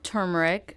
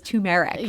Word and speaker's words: turmeric: miror yeah it's called turmeric a turmeric pan Indian restaurant and bar if you want to get specific and thank you for pronouncing that right everyone always says tumeric but you got it